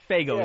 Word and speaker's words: Faygo: Faygo is how it's pronounced.